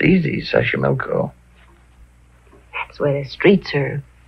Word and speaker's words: Taxco: it'll be wonderful Mexico City Taxco pbl sash sashco okay so you pronounce it better than I do it's easy sashco that's where the streets are paved with flowers